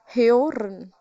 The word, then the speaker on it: hören: O ka pronunciation, when it comes with umlaut, the pronunciation comes as ew. Ew, hören.